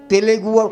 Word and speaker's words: তেলুগু: উনি কালিদাস নামে, মহাকবি কালিদাস যেটা বললেন উনি, তেলেগু না, ওই জিনিসটা তেলে ভাসে না, কথাটা হচ্ছে তেলুগু। দয়া করে আমি অনুরোধ করব, তেলেগু শব্দটা সঠিক নয়, যদিও সেইভাবে চলে, তেলুগু, TELUGU।